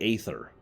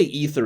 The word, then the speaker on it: ether: who really stumbles at the pronunciation of either because I see them I want to say ather in fact I still mentally think of that as ather smart mouthing they say ether and games I've been trying to say either I do my